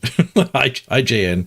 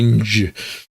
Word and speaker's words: IJN: You don't pronounce it. IJN. It's not the INJ.